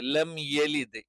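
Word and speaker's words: لَمْ يَلِدْ: അവിടെയും തെറ്റ് വരാനുള്ള സാധ്യതയുണ്ട് പിന്നെ അറബിയിൽ നമ്മൾ പറഞ്ഞു അകാരം മാത്രമേയുള്ളൂ എകാരമില്ല ലം യലിദ് വലം യൂലദ് ലം യലിദ് യെ അല്ല എ തെറ്റാണ് നമുക്ക് ഓരോ ആയത്തുകൾ ഒന്ന്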